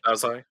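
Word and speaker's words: Dazai: Japanese Au named Osamu daai uh did I pronounce that right okay actually yes you did daai okay um I've never heard of this guy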